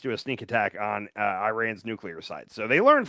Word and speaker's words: Iran: Sorry. I keep saying I'm gonna say Iran. It's it's Iran. Okay, that's how you say it.